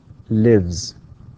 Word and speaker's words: lives: We pronounce the S here, okay, it's pronounced as Z.